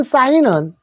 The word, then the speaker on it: sign: 되는데 요거 사인에서 요 SI의 사이에다가 N 니은인데 G가 묵음입니다. 그죠? 묵음 소리가 안 나요. 사인 소리 안 난다는 거 알아두시고요. 자, 그래서 네온 사인은 이 발음으로 니라고 하십시오.